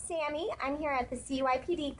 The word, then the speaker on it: Sammy: Yes, Sammy?